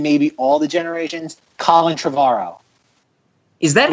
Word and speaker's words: Trevorrow: 2017's The Book of Henry, directed by arguably the greatest filmmaker of this generation and maybe all the generations, Colin Trevorrow. Is that how you pronounce his last name?